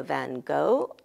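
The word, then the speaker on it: Van Gogh: who it is and the pronunciation of this person in German is f English depending whether you're American or British you have either van go or you have Van Go and the original in Dutch there are Dutch native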